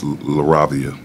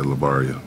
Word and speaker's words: LaRavia: Cavaliers here recently uh I said his name wrong too it's laravia um I said I think I said lavaria whatever um kids can